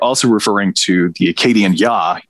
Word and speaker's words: Ea: referring to the acadian yah ea is how you you spell his name ya is how you pronounce it which leads me down